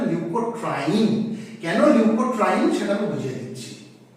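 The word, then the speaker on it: leukotriene: এটা মুঝলাম প্রথমে কি শিখবো বললাম লিউকোট্রাইন কাকে বলে লিউকোট্রাইন অনেকে না এটাকে ভুল করে ভুল উচ্চারণ লিউকোট্রিন বলে উচ্চারণটা কিন্তু লিউকোট্রিন না উচ্চারণটা লিউকোট্রাইন কেন লিউকোট্রাইন সেটা বুঝিয়ে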